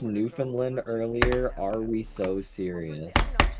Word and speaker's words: Newfoundland: something weird, call it new found land. Don't call it Newfanland. Call it New Foundland Land. You have to you have to like pronounce that with your whole mouth.